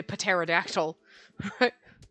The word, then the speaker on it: pterodactyl: there's a piece island sometimes the t is silent and those like you don't say pterodactyl so it's hematitis i